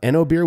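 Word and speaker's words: OenoBeer: For those who haven't heard of EnoBeer, which is spelled O-E-N-O-B-E-E-R, it's sort of a wine-beer hybrid that gets up to 49% of its fermentables from grapes.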